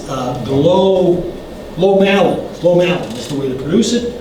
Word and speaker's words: glomalin: I used to say glomalin, but it's glomalin. Glomalin is the way to pronounce it.